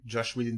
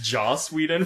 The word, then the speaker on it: Joss Whedon: Josh Whedon died for your sins. Okay. It's Joss Whedon, first of all.